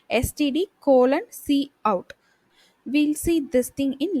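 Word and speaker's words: cout: c out hello world c o u t it should be pronounced like c out c out is an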